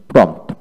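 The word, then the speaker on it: prompt: তারপর আসেন প্রম্পট, প্রম্পট, পি আর ও এম পি টি, প্রম্পট, চটপটে।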